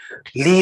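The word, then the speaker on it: Lie: famous norwegian mathematician called sophist lee lee spelt with ie so he was very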